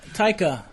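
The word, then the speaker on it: Taika: director what Titi my problem with it ta taica ta is that even right is that no no that's what it is pronounced my problem because that has something to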